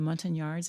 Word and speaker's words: Montagnard: Cybele: The Montagnards, is that how you say it?